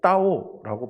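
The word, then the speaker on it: 到: 그런데 이 다오라는 말이요, 조금 짧게 따오라고 발음하면요, 도착할 도자 있지 않습니까? 그 글자로 바뀌게 됩니다.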